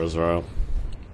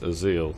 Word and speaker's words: AsZeal: off at all for asra sorry it's ail there's no R in there I've been pronouncing mispronouncing